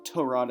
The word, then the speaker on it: Tyrod: is extremely unfortunate for tyrod taylor or torad as it was confirmed how it's pronounced this week on twitter